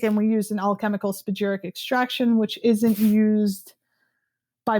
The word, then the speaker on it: spagyric: a different technique and we use an alchemical spagyric extraction, which isn't used by many. Wait a minute. Say that again. I missed that word. Alchemical spagyric extraction. How do you say it again? Spagyric. Spagyeric.